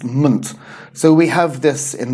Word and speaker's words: ment: Meant, for example, isn't pronounced meant, it's pronounced munt.